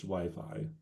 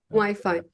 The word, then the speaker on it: Wi-Fi: on the pronunciation um because in Spanish um wey um but in English Wi-Fi Wi-Fi uh does you know